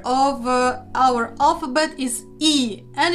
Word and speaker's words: і: of our alphabet is e and it's pronounced like the English double e like sweet C it's a very